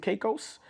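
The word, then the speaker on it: Caicos: Um, went went to Turks and Caos.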